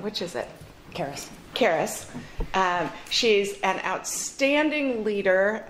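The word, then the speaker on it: Caerus: Caris.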